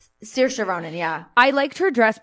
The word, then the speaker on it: Saoirse Ronan: I did like how do you say it Saoirse Ronan Saoirse Ronan yeah I liked her dress but here's the